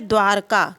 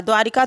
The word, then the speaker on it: द्वारका: एक शब्द आता है द्वारका क्या हो होता है द्वारका द्वारिका द्वारिका सब कहते हैं ना लेकिन जो उच्चारण की दृष्टि से जो शुद्ध शब्द है वह क्या बनेगा द्वारका बनेगा द्रवी भूत निरीह नक्षत्र